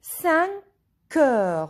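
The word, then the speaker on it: cinq heures: 5 o'clock, il est 5 heures.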